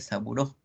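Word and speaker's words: Sabouraud: es amo lo que se escribe así sambou graus pero se lee seguro si podemos utilizar el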